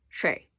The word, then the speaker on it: 水: the middle and say shui. Just keep it really tight. Shui. Like shui. Shui. It's a tight syllable.